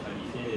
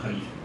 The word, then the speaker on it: Khalifé: Et donc Khalifé, j'insiste parce que j'ai beaucoup entendu le nom prononcé différemment. Moi c'est l'inverse, on m'appelle alors que je m'appelle et puis c'est Khalifé et on l'appelle Khalifé.